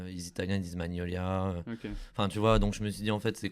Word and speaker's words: Magnolia: deux prononciations en fait la prononciation française c'est bien magnolia ok mais d'ailleurs c'est